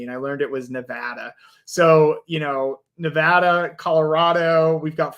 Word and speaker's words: Nevada: We've got people from Michigan and Nevada. And by the way, funny story about Nevada real quick.